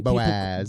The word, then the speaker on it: Boaz: Um, also, can we just comment on how fun it is to say Boaz? Boaz. You kind of have to like over like bo like hit that first syllable hard and then Boaz.